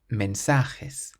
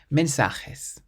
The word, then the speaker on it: mensajes: Well, that one was there just to trick you because it ends in an S. So we stress the syllable before last. Mensajes. Mensajes means messages.